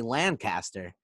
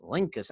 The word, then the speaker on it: Lancaster: i came down here i would say lancaster and everybody look at me like i was nuts and yell at me it's it's lincus i still can't say